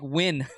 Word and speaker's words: Nguyen: It's like win. And like Nguyen. Nguyen. Yeah, how was that win? I don't know. Can we get some comments about how the fuck that's win?